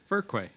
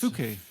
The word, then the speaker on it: Fuquay: Oh yeah, nobody knows how to pronounce it. Furquay. It's Fuquay.